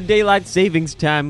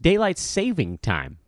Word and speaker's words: daylight saving time: can tell is because I mispronounced it right out of the chute it's actually just daylight saving time I didn't know that until fairly recently I feel like everybody possessives it daylight savings time now savings is like